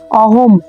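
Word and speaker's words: অহং: এটা শব্দের শেষে অনুস্বার আমরা জানি শব্দের শেষে যদি অনুস্বার থাকে অবশ্যই ময় হসন্ত উচ্চারিত হয় অহম তো এই হলো উচ্চারণ ইয়াব ইতার নিরিক্ষে অহম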